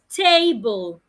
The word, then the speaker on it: table: For me to say that word correctly, apart from articulating the sounds correctly, like we learned earlier, I must also stress a part of the syllable since it has two syllables.